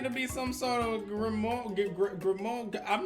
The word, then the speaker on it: grimoire: A grimoire, like a book of spells. Oh, is that how that's pronounced?